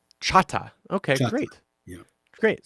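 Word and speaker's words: Chahta: that's a English pronunciation of our real name, which is Chata. Chata.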